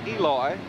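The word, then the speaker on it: Elois: Grooms pronounces his first name, Eloy, and he is out of the ballgame, and here's where it happened.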